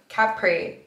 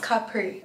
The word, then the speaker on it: Capri: too but if think all the Americans say Capri Capri but it's Capri Capri Capri Capri like capri pants oh yeah like why